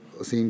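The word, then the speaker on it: أثيم: شجرت الزقوم طعام الاسیم, تو اس نے اس سے اسیم ادا نہ ہوتا تھا, تلفظ تھا ایرانی کا, اسے اتنا ادا نہیں کر سکتا تھا اسیم کے لفظ کو. وہ ہر دفعہ اسیم جب یہ کہتے تھے وہ یتیم کہہ دیتا تھا.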